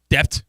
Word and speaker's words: debt: Debt. Dep. Yeah. I don't think anybody pronounces the B in debt.